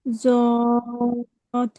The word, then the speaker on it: ض: কোথা থেকে উচ্চারণ হয় জ, বলেন? জিভের কিনারা এবং তার বরাবর উপরের মাড়ির দাঁতের গোড়ার সাথে লাগিয়ে, জিভের কিনারা। জদ, হুম, এরপরে পড়বেন রুকসানা আফরিন।